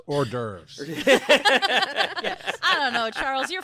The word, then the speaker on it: hors d'oeuvres: a horse divorce because we got into such a massive argument. I believe it's pronounced hors d'oeuvres.